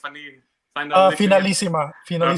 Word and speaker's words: Finalissima: Finalissima.